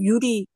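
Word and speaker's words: ゆり: 이게 발음이 이제 우리거 우리이이 한이 일본 글자가 발음 시켜 보면 우리라고 합니다 우리가 아니고 유리 유리 유리 예 뭐 일본어 하셨어요 이게 이제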